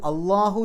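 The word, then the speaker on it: الله: ചില ഭാഷാ പണ്ഡിതന്മാർ അഭിപ്രായപ്പെട്ട അള്ളാഹു ആലം ലാം എന്ന അക്ഷരം കനത്തിൽ ള എന്നുള്ള രൂപത്തിൽ ഉച്ചരിക്കുന്ന ഒരേ ഒരു സന്ദർഭം അത് അള്ളാഹു എന്ന പദത്തിൽ വരുമ്പോൾ മാത്രമാണ്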